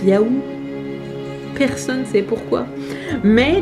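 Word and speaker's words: já: Pour dire oui, c'est marqué J, accent A, accent bizarre, et ça se dit Yahoo. De toute évidence, ça ne veut rien dire. Donc même je t'aime, ça s'écrit avec un P bizarre, enfin c'est n'importe quoi.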